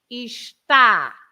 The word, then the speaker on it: está: The other one without the accent, it's esta. The vowel is the a. Esta. But when you have the accent, you have to pronounce está. Está. So not Okay. so it opens the vowel.